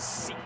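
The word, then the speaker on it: Seke: And then it's pronounced Seek, S-E-K-E.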